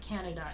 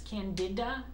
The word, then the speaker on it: candida: how to pronounce that it's not canada it's candida anyway irritable bowel syndrome and